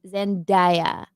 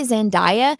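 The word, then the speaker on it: Zendaya: I always say Zandia and then one of my friends was like, "Do you purposely say your name wrong?" I'm like, "No, I thought that was her name." They're like, "It's Zenaia."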